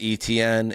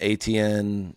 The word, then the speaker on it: Etienne: So, it was like A-C-H-A-N-E.